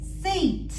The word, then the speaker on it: seat: You see here, the E is strong. And the A does not sound like A. It sounds like E because this letter becomes a strong letter. The A is silent, but it converts this E into a long sound.